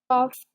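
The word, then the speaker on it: cough: Okay, कफ is again an exception word जहां पर उसकी साउंड चेंज हो जाती है। ओके, सो यहाँ पर साउंड किसके, एफ की हमारे पास, यहाँ पर जो जी एच की साउंड है वो चेंज हो गई, इट्स एन एक्सेप्शन।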